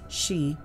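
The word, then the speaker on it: 四: Houses with the number 4 in the address do not sell well there, because the number 4, pronounced shi in Chinese, is the first letter in the word for death, so the number is considered very unlucky.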